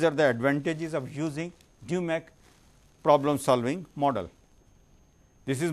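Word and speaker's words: DMAIC: is a main process process of problem solving dumac dumac team life cycle phase one identifying and selecting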